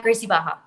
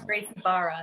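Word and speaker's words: Gracie Barra: what jim is that at gracie baja oh okay okay nice or great barra if you want to pronounce the rs some people do and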